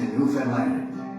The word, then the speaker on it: Newfoundland: From east, from west, from south to Newfoundland. In 26, our friendships will renew. But don't forget, It rhymes with understand.